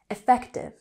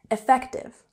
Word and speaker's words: effective: Effective has an emphasis on the second syllable, effective, effective.